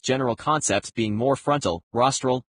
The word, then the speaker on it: rostral: concepts being more frontal rostral which rhymes with nostril and the most specific concepts being least frontal codle.